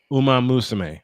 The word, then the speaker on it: Uma Musume: If you were a VTuber and not playing, how do you Uma pronounce that? Musume. It's basically one more time, honey. Say it again. Uma Musume. Uma Musume.